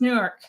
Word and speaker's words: Newark: New Jersey you gotta say it right it's Newark yes it is I thought it was pretty